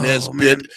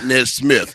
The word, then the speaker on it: Nesmith: be able to pronounce my last name NE bit not NZ Smith he always say he's trying to talk proper how long's it he tries to talk proper and he says Nez Smith and I'm not Smith